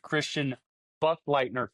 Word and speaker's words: Christian Buchleitner: Today I have owner and operator of Mad Soaps, Christian Buchleitner.